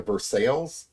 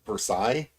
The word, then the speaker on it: Versailles: We've got a Versailles, but it's supposed to be pronounced Versailles. We just not very good at pronouncing French names.